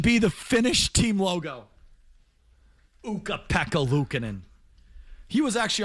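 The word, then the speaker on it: Luukkonen: Ukah Pekkalucan and said he saved him. But ultimately, because his name is Ukah rhymes with puka.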